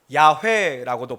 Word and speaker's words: 야훼: 오늘은 하나님께서 모세에게 친히 자신을 계시하신, 자신을 드러내신, 하나님이 직접 자신의 이름을 알려주신 그 이름, 바로 여호와, 야훼라고도 발음하죠.